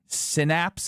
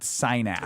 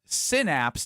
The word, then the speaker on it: synapse: Everyone's telling me how to pronounce Synapse. I believe it's not sinaps.